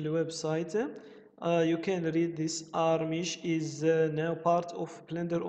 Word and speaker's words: Archimesh: I pronounce it like Germany. Archimesh.